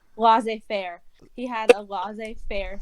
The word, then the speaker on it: laissez faire: known how to pronounce, is it lazy fairy? Laissez faire.